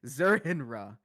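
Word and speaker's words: Zur-En-Arrh: faith uh let's see Marty says zerner is also an ultra personality of Batman that's how you pronounce it zurinra and yeah that was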